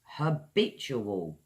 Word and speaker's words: habitual: Last one I've got for you guys is Habitual her bet you will four syllables.